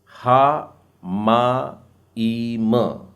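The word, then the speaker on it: השמים: इसके बाद में है अगला शब्द हा माईम, हामाईम। जी हाँ, आपको म का उच्चारण भी 2 बार करना है क्योंकि बीच में, मेम के बीच में देखिए वहां एक डॉट डला है, हामाईम।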